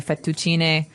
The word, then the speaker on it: fettuccine: in Italian it'd be fettuccine, so you might hear it differently.